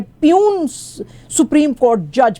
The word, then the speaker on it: puisne: Justice फायज ईसा जो हैं जिनको के बोलते हैं प्यून सुप्रीम कोर्ट जज, प्यून यानी कि PN नहीं प्यून इसके स्पेलिंग है, इसके स्पेलिंग जो होते हैं वो होते हैं PUISNE।